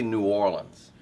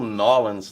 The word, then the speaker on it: New Orleans: I mean, I say New Orleans. The whole Nolans thing. See, that's the thing. No, don't say that. If you Okay. say Nolans, we'll know you're not from there.